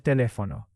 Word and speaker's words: teléfono: Also, teléfono has the written accent on the E. Teléfono. Spanish stress matters, and the accent mark helps you pronunciation.